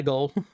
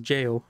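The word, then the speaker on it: gaol: Back to my goal. I keep calling it goal, but it's just pronounced jail. It's like the ye olde English spelling of jail.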